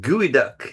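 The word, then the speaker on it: geoduck: Pronounced gooey duck. Yep. not how it would, not phonetically how it would sound.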